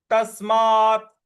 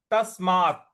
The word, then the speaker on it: तस्मात: भारत अगला पद है तस्मात तस्मात त के बाद जो आधा स है उस पर हमको आघात देना है और मा के बाद